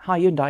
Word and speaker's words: Hyundai: And yes, it's Hyundai because that's how you say it in England.